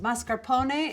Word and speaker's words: mascarpone: or a toasted baguette this is mascarpone pronounced mascarpone in italian this is a double